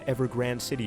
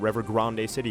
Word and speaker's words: Evergrande City: to Evergrande City or Evergrande City, and I'm probably going to say both pronunciations both times because Grande makes more sense to me because that is the Spanish pronunciation of that word, and it's the Spanish spelling of the word.